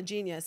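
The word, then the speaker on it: Jeen-Yuhs: Emphasis on the genius, because his new 3-part documentary on Netflix is called Genius, but it's spelled J-E-E-N-Y-U-H-S.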